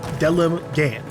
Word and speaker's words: Delemgan: I guess since we're close to the Delemgan, every time I see the word Delemgan, I want to say it like somewhat differently. Like it's a bit of a fancy word, but no, it's just Delemgan.